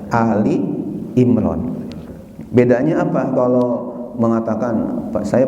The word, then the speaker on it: Ali Imran: Ali Imron harganya 188 Ali Imron bacanya kadang-kadang ada yang macam surah alimron itu salahnya jadi yang benar adalah ini Ali Imron Bedanya apa tolol mengatakan